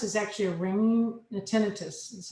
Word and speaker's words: tinnitus: And tinnitus is actually a ringing, the tinnitus, that's how you say it, is a ringing of the ear.